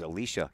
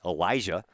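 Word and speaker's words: Elysha: head coach's name was alicia kennedy it's actually elijah big difference between the male version and the female version of that name but it's spelled e-l-y-s-h-a usually elijah i see is spelled e-l-i-s-i-a so that kind of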